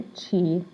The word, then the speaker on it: chi: the Chi Squared now it looks like a chi right but it's pronounced Chi Chi Squared and um you will